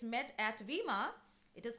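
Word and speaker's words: Weimar: assembly it's met at vemma it is called as it is pronounced as veemar so a national assembly is met at wemark and they establish a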